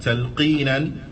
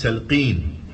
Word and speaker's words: talqeen: The Imam, he says, Talqeenan. Naam. Talqeenan. And bi'idhnillahi ta'ala, we'll come to see what is the meaning of talqeen.